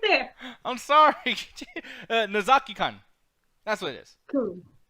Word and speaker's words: Nozaki-kun: Hey, no Nakami-kan in there whatsoever. That is no. You spell it out right there. It's right there. I'm sorry. Nozaki-kun.